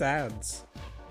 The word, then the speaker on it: adz: looks like it's just ads ads it's either ads because that's that's just Capital adz that's ads yeah it is ADS